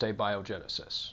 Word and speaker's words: abiogenesis: It's pronounced abiogenesis, just so you know.